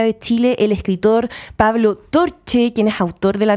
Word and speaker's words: Torche: Pablo, pronuncié bien tu apellido. Pablo Torche.